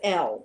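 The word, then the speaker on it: Elle: Her name is L.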